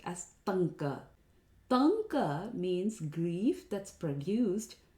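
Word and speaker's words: ṭaṅka: This is most commonly mispronounced as Tanka. Tanka means grief that's produced due to separation from one's beloved object. It is Tanka, ta, where the tongue curls up.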